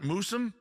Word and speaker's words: Moosum: Am I saying it right? Moosum? Yeah, oh yes.